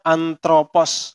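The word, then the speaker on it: ἄνθρωπος: Ini bacanya anthropos ya.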